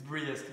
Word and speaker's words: Briest: But it's pronounced the same. All right, sorry. What am I doing? Last name? It's Briest.